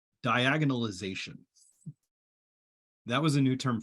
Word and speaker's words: diagonalization: Diagonalization.